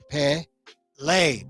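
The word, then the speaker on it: Pelé: originality in the field Pele pronounced pay lay big on caps on lay l-a-y Pele Pele all right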